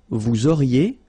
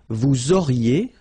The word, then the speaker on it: vous auriez: Vous auriez, liaison here, and then EZ will go like E.